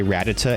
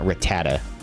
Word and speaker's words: Rattata: And I say it like that. I say Rattata and not Rattata.